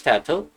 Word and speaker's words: Tato: So, first off, my name is Tato, like how you pronounce taco or potato.